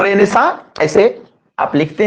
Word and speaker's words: Renaissance: हैं इसको, ये रेनेसा, थोड़ा उटपटांग इसका स्पेलिंग होता है, लेकिन हम लोग क्या करते हैं कि ऐसे इसको लिखते हैं, वह होता ही ऐसा ही है, RENAISSANCE, रेनेसा।